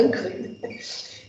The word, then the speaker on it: Ingres: Está escrito Ingres, mas se pronuncia Ingres.